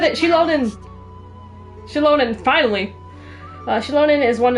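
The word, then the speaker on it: Xilonen: is one of four that she said it shonin chilonin finally shonin is one of the four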